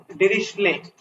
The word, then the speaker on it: Dirichlet: a boundary condition is this is so it's pronounced as dirichlet the D is silent and this is perish